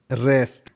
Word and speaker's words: wrest: WREST, W है, W के बाद R है, WREST, रेस्ट।